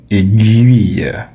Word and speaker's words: aiguille: Certains disent aiguille, d'autres disent aiguill mais la bonne prononciation c'est aiguille. Aiguille. Guy. Comme dans linguistique, c'est pas aiguille. Non, on ne dit pas non plus aiguille, on dit aiguille, linguistique.